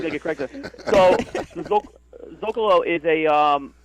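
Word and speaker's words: Zócalo: Zocalo.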